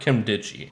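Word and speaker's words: Nkemdiche: Robert Kemdichi. I'm pretty sure the N is silent, so I'm going to go with that.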